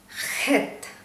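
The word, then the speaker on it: חית: സഹ ഓക്കേ സൈ അടുത്ത അക്ഷരത്തിലേക്ക് നമ്മൾ പോവുകയാണ് ഹെത്ത് ഹെത്ത് ഒരു കാര്യം ഹീബ്രുവിൽ നമ്മൾ എപ്പോഴും ഉച്ചാരണം ചെയ്യുമ്പോൾ അക്ഷരങ്ങൾ ആയാലും വാക്കുകൾ ആയാലും ഉച്ചരിക്കുമ്പോൾ ആ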